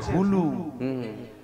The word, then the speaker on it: হুলু: উলু নয়, উলু নয়, তবে বইয়েতে লেখা আছে হুলু।